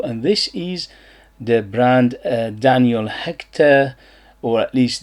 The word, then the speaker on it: Daniel Hechter: this is the brand Daniel Hechter, or at least this is how I pronounce it, because this is a French name. Probably I'm butchering it and it's completely a different pronunciation.